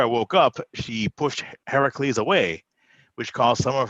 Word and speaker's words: Heracles: brought his son or heracles is the authentic pronunciation home for his wife